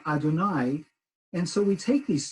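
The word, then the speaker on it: אדני: nun, and yud, which is the name, we pronounce as Adonai.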